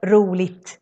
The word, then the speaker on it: roligt: An example, if you say ett roligt barn, a fun kid, then you need to say roligt with a T in the end, because barn is an et word.